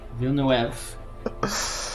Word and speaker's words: Villeneuve: Directed by our old mate, Denis Villeneuve. Yes. Villeneuve. Good pronunciation.